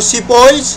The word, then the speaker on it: sepoys: तो सिपॉइज and peasants, सिपॉइज यानी कि जो सिपाही है उनको सिपॉइज कहते थे। वहाँ पर प्रोनाउंसिएशन इसकी क्या है वो एक बार देख लेते हैं। सीपॉइज है ना।